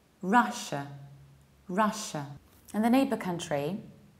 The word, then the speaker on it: Russia: I usually hear Russia with very strong shia, whereas there is no yot there. We say Russia, Russia. Forget about yod, forget about shia, forget about strong sh.